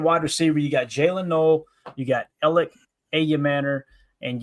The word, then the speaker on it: Noel: the way, do you guys know that he does not like being called Noel? It's Noel, like Noel Williams.